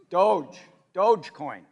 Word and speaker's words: Dogecoin: Dogecoin. All right, I have 10 Dogecoins, all right? A year ago, 10 Dogecoins, for sake of argument, was worth $1,000, so $100 a coin.